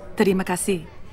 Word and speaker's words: terima kasih: Actually, it's pronounced terima kasih, but you're welcome.